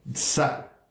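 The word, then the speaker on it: צר: Porque la palabra angustia, de hecho, viene del hebreo tsar, T-S-A-R, lo puedes deletrear. Ahora, o pronunciar más bien.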